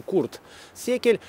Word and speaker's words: Курт Секель: Причем, видите, это на самом деле курт. Это вот не буква В, это У. Читается курт секель.